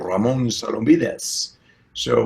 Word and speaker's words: Ramon: name which I think with a good Spanish accent you know would be your Ramon so don't be this